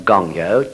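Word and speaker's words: 勤: practice, Gyo, G-Y-O, and the Gon of Gongyo, G-O-N, means assiduous, or it could mean eager, or endeavoring strongly, striving hard. All those things can be meant by the character that's pronounced Gong.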